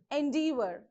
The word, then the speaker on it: endeavor: Endeavor, endeavor. So here no stress. You have to stress from D, endeavor.